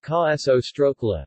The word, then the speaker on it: Cassoeula: Cassoeula, pronounced ca-so-stroke-la, sometimes Italianized Cassoeula or Cassoeula, Italian word for